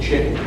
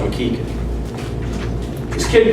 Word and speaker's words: McKichan: they called me with chicken I also did a clinic one time in Kentucky my name is actually pronounced McKee kid Kentucky 16 year old